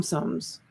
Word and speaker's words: Tsum Tsum: name of them some sums i guess the t is silent i think it's sum